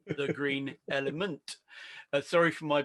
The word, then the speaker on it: Green Element: He is the host of a podcast which is phonetically closest to ours, called The Green Element. Sorry for my pronunciation on that because I keep on saying Green Elephant.